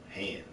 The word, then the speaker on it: Han: It was shit so subtle that the way that Billy D would mispronounce Han's name, he would call him Han.